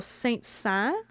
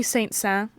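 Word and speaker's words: Saint-Saëns: All right, so yesterday we had César Franck, and today we have, Camille Saint-Saens. I never know how to pronounce his freaking name.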